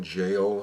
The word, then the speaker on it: gaol: But this is called um the ballad of reading jail spelled jail is spelled uh g a o l and uh the b